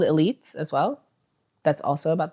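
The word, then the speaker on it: Élite: And it it's spelled Elite, but that's not how you would pronounce it. You would say Elite.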